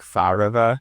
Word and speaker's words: Farvard: So or a better pronunciation would be like Farava in Farsi and these like older languages.